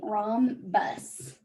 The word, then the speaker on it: rhombus: this is a rom this h is silent rom bus so think about um